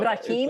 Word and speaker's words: Ibrahim: no, it's Ibrahim, okay.